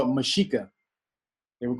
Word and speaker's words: Mexica: The name is really, they would call it Mexica. They would call it the Mexica. Or that's, he's pronounced, yeah, he's not pronouncing the name right, but it was the Mexica.